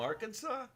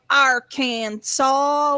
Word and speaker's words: Arkansas: visit and they're like we don't live in no damn arkansas we live in our kansas well my understanding is